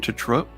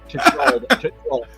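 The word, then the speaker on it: Tetreault: Trolot? Tetrolt.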